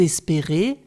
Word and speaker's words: espérez: la deuxième personne pluriel vous espérez le z de la terminaison n'est pas prononcé pour obtenir le son